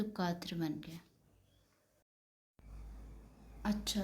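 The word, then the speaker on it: quatre: और इसकी प्रोन्सिएशन है कात्र। कात्र कहते हैं इसे। ठीक है? क्यू यू का काफ और ए टी आर।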